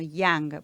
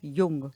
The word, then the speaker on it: Jung: aprovechar, porque viste que muchas veces algunas personas lo nombran como Young, porque les suena norteamericano, pero no, él era suizo. Claro. Entonces su nombre se pronuncia Carl Gustav Jung.